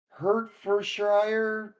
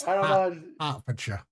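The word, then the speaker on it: Hertfordshire: It's hard for It's pronounced like hard for sure.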